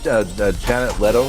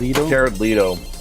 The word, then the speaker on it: Jared Leto: Yeah, in fact, Janet Leto, did I say his name right? Jared Leto.